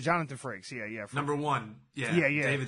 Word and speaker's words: Jonathan Frakes: Jonathan Frakes. Jonathan Frakes.